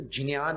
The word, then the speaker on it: ज्ञान: वो ज्ञान बोलते हैं, और जो गुजराती है वो ज्ञान बोलते हैं, और जो संस्कृत पाठी हैं, हमने वाराणसी के संस्कृत महाविद्यालय के जो बड़े बड़े प्रोफेसर्स हैं उनसे बात की कि इसका वास्तविक उच्चारण क्या है। संपूर्णानंद संस्कृत महाविद्यालय वाराणसी में है। तब उन्होंने कहा कि इसका शुद्ध उच्चारण ज और य से मिलकर के ये बना है शब्द, ये अक्षर, तो ज्ञान ही होगा।